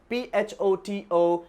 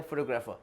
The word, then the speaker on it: photographer: For example, photographer, many people, they pronounce it as a photographer. That's wrong. You need to focus on the T, photographer.